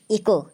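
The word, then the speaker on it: echo: हमेशा साइलेंट होता है इको ई सी एच ओ इसको हम इको पढ़ेंगे क्योंकि रूल के अनुसार अगर एओ से पहले आता है तो एच साइलेंट होता है तो इस वीडियो को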